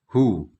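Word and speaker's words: هُ: Di antara bentuk dari penulisan atau pelafalan domir-domir al-muttasil an-nasab yaitu pertama, untuk dia jumlahnya 1 masuk kategori laki-laki, yaitu hu. Jadi huruf H yang berharokat dhammah.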